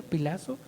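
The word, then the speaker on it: φυλάσσω: Viene del griego original pilazo. Así se pronuncia, pilazo.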